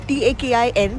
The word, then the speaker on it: Takin: But this place houses the national animal of Bhutan, which is called as the Takin, Takin. That's how it's pronounced.